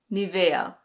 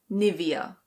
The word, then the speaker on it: Nivea: In German this is pronounced Nivea. Nivea. In English we say Nivea. Nivea.